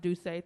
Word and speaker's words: Doucet: Stray Stewart, Ted Carlson, Alex M., Isa Madrid, Madeline Baker, Terry Satterfield, Ansel Smits, Heather Ann McLeod, Remy Doucet, pronounced Doucet, thank you.